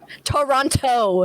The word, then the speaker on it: Toronto: Say it like an American. He's gonna kick me out of the office, guys. It's gonna happen. So that No one movie pronounces the is, T's in Toronto. Oh, this movie does, and it's really infuriating if you're Canadian.